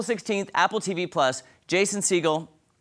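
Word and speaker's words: Segel: Apple TV plus Jason seagull is that how you say it seagull or Seagal I never know yeah seagull and Harrison Ford back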